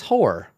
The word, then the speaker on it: Hoar: I think his name is Hor. Hor? I think that's his name. It's spelled Hoar. Like yep. Horfrost? It's pronounced Hor.